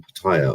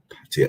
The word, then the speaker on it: Pattaya: going to call it Pattaya. Sorry, everyone said I said it wrong. It's Pattaya. I asked a local, and they said it's Pattaya. It's not Pattaya. It's Pattaya, but said slightly different.